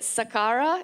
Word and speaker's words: Saqqara: what so our I don't know how to pronounce it Saqqara is that it thank you and I just